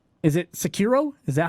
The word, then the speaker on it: Sekiro: Is it Sekiro? Is that how you pronounce that one, Miggy? Yeah. Sekiro, Shadow Die Twice, and Outer Wilds.